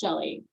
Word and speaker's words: Chelle: I know it's spelled weird, but that's part of me being brave and putting myself out there is it is pronounced Chelle.